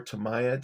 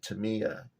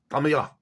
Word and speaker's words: Tamiya: And if you are familiar with Tamiya or Tamaya, depends on where you're from, how you pronounce it. I pronounce it Tamiya, but I've also heard it called Tamaya. And I guess in Japanese it's Tamiya.